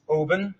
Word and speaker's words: Oban: All right, so this next one is, how do you pronounce this? So this is Oban, and it's a West Highland whiskey, not West Holland.